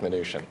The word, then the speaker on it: Mnuchin: pronounce your name because I've heard it pronounced 15 different ways by people who swear they know your family minan I'll go with minian okay Steven minan just